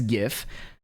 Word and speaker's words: GIF: So you can see in this GIF, which is the correct way to pronounce that by the way, that they have